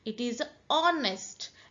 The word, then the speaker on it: honest: It is honest. H is silent.